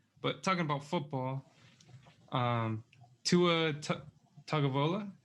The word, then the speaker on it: Tagovailoa: But talking about football, Tua Tagovailoa, how do you say his last name?